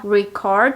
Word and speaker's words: record: record quiere decir grabar haciendo énfasis en la última sílaba record quiere decir grabar la